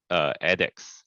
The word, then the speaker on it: ADDX: I'm the co-founder and chief strategy officer of ADDX. and that's how we pronounce it over here.